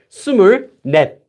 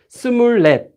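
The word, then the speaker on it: 스물넷: If you say it slowly, you would say sumurnet if you wanted to separate it, but you don't need to separate it when speaking. You can just say sumurlet, sumurlet. So this 24 is actually pronounced as sumurlet, just like this.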